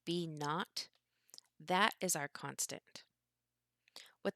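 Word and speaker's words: B₀: the constant this B sub 0 which is pronounced B naught that is our constant what this really is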